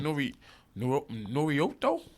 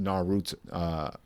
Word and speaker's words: Naruto: You said Norioto? Norioto, what's his name? Naruto. Naruto. That's what I'm saying. I mean, his name is pronounced Naruto, but then it's like some people hang up on the U.